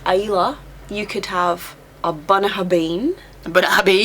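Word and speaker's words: Bunnahabhain: you could have a bnah habin bab so that's one of the examples where a b and a h does make a v yeah so for B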